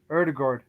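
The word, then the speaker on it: Ødegaard: in the fence or erdegaard erdegard and the congress 50 million bona gourd say his name right right erdogard you'd have to say martin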